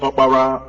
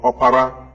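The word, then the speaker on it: Okpara: known as Winfrey Oprah, is also a name among the Igbos pronounced Opara or Opara, meaning the first son of a family.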